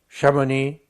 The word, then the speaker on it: Chamonix: comment faut-il faire ?» On aurait pu ne rien mettre, mais on a fait pire. On a mis un X. Chamonix, Vulmy, Conjus, Échenevé, G, enfin G c'est un monosyllabe, Mont-Saxonais, etc.